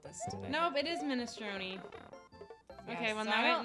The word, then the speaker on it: minestrone: Italian language course teach the standard Italian pronunciation. I'm horrible at this today. Nope, it is minestrone.